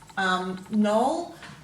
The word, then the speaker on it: knoll: So you're going to go knoll, k, n, o, ul. Well, we're not really pronouncing that k, so we go n,